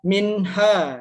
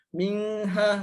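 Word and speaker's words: منها: Jadi dibacanya harus jelas. Jangan dengung. Minha kan salah. Kalau minha itu hukumnya apa gitu. Nah, itu enggak jelas. Jadi perlu kejelasan gitu ya, karena izhar halqi, izhar itu artinya jelas. Jadi kita harus membacanya dalam Al-Qur'an juga harus jelas. Jadi minha, enggak boleh ada dengung dan juga harus dibaca jelas.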